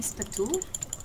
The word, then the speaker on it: Spatu: How do you say his name? Spatu? Yes.